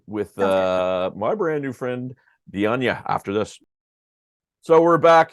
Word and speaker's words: Dianña: Yeah, it's España. When I met my real dad, I found out they're from Alarcón, Spain. So España, Dianña.